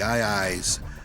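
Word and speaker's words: aye-aye: The II's uh pronounced I I but spelled a ye a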